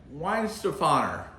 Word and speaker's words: Weihenstephaner: these fine uh well i could never say it why stefano is the best way to pronounce it that i've found we're having the crystal